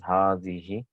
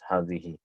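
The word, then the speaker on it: هذه: So hadihi is pronounced as hadihi, but it's written without alif. Right? It's hadihi.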